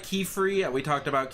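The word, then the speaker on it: Qifrey: I think we're going to I also like Keyfree. We talked about Keyfree Pronounced Key spelled Q I F R E Y.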